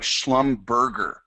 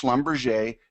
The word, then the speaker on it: Schlumberger: If you've never traded it before, and you read the name, it looks like Schlumberger. It's pronounced Schlumberger.